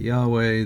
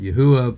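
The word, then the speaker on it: יהוה: And those that don't really read Hebrew pronounce that Yahweh. Those that do pronounce Hebrew pronounce that Yahuwah, but basically people have been pronouncing that by sounding out the characters.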